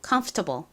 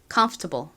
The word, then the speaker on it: comfortable: comfortable 한 번 더 해 볼게요. 가장 큰 강세는이 컴 부분에 있습니다. 이렇게 단어가 길수록 강세를 정확히 발음해 주시는 것이 중요합니다. 자, 앞부분에 힘 줘서 발음해 볼게요. comfortable.